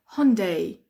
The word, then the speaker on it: Hyundai: but here we say Hyundai Hyundai Hyundai that's the way we pronounce it here Hyundai Hyundai I don't